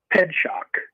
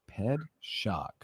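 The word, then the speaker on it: Pitzak: last name is pronounced ped shock ped shock okay like like pedestrian and shocking okay put those put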